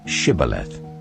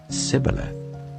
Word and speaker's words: Shibboleth: If he replied no, they said, "All right, say Shibboleth." If he said Sibboleth, because he could not pronounce the word correctly, they seized him and killed him at the fords of the Jordan.